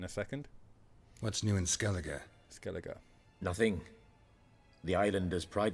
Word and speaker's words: Skellige: Pronounced ER, Skellige.